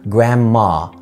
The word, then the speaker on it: grandma: بس ممكن تقول على جدك grandfather، تقول عليه grandpa، grandpa، وممكن تقول على grandmother grandma، ما تنطقش بقى الدي، grandma، الحم الان في الام على طول، grandma، grandma.